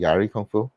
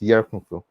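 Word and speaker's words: Yie Ar Kung-Fu: I used to pronounce it Yari Kung Fu. I mispronounced it. I think it's Yar Kung Fu.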